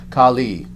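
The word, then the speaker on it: Kālī: goddess Khali now again listen Khali Kali with the term Kali as in kuga short a short I with the goddess on the other hand long a long I Khali Khali and it's unfortunate how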